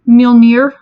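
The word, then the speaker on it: Mjölnir: thor's hammer it is mjolnir this one is hard to pronounce if you like you have to get the right sound for that mj in the front so yeah no near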